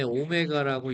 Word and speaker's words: 오메가: 실수가 아닌 두 개의 복소수 z하고 요거 읽을 때 w라고 읽지 않고요. 오메가. 예. 오메가라고 읽습니다.